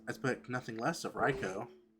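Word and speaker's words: Raichu: I I pronounce it Reicho, but a lot of people pronounce it Reichu.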